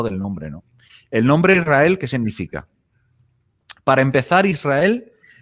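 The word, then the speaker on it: ישראל: Y se pronuncia Israel, ¿vale?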